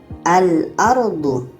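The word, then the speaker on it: الأرض: Jadi kalau kita baca alardu, alardu, alif lamnya terbaca al ah nampak secara bacaannya lamnya kita baca dan di sini tidak ada tanda tasydid. Jadi ini alif lam qamariah.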